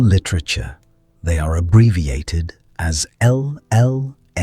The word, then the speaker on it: LLVP: In the technical literature, they are abbreviated as LLVPs, pronounced as individual letters.